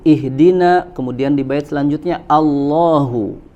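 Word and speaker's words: اهدنا: Kemudian yang selanjutnya adalah wa hamzah, ya, wa hamza alhamdu a'udhu ihdina, Ya, di sini yang diperingatkan oleh Al-Imam Ibnu Al-Jazari itu adalah pada huruf hamzah, ya, pada huruf hamzah pada kata alhamdu, a'udzu, ihdina, kemudian di bait selanjutnya Allahu.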